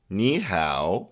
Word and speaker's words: 你好: And when they are together, they are pronounced like this. 你好. Ni hao.